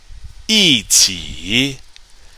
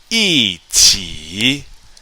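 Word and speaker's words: 一起: 一起, 一起, meaning together.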